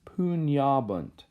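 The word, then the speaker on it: pugnabant: in terms of pronunciation when we have this GN together it makes the NY sound like in the word lasagna so it's pune abend pune abend alright ok so now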